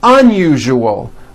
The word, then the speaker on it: unusual: Okay, now try unusual. Un-u-ju-o. Unusual. Like that.